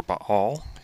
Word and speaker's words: Baal: This is on the topic of Baal, or Baal, as it's pronounced in Hebrew.